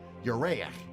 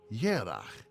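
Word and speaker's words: ירח: But the same Hebrew word, Yereach, moon, has another meaning in Hebrew, though pronounced differently. Yerach also means month.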